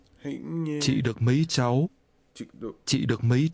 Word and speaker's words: cháu: This is pronounced with a rising tone.